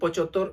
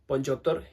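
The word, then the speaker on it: পঁচাত্তর: കൃത്യമായിട്ട് പറയാൻ പറ്റുന്നില്ലെങ്കിൽ നമുക്ക് പൊച്ചോത്തോർ എന്ന് വേണമെങ്കിലും പറയാം ഓക്കേ പൊഞ്ചോത്തോർ എന്ന് പറഞ്ഞ് തെറ്റായി പറയുന്ന ഭേദമാണ് പൊച്ചോത്തോർ എന്ന് പറയുന്നത് പൊഞ്ചോത്തോർ എന്നാണ് ശരിയായ അതിന്റെ ഒരു ഉച്ചാരണം വരുന്നത് ഓക്കേ അപ്പൊ ഇത്രയാണ് നമ്മൾ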